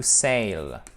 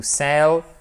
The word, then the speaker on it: sell: On ne dit pas to sail comme ceci ou to sell. Parce que to sail, ça s'écrit comme ça et ça veut dire naviguer. OK? Ça n'existe pas. To sell, vendre.